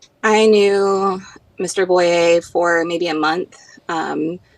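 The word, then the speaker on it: Boyrie: say your last name uh it's it's boy it's it's French it's kind of weird Bo yes sir how do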